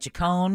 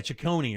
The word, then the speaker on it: Ciccone: Is that how you pronounce it? Or Ciccione or something like that? Yeah, something like Ciccone. Yeah, Ciccone or something like that.